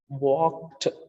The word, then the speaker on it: walked: Similarly, it's walk, and when it is inflected for its pastness, so we can say walked, walked, not walked. It's not walked.